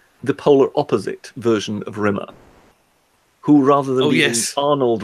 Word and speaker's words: Rimmer: Rimmer, to rhyme with scum.